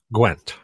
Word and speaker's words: Gwent: It's pronounced Gwent.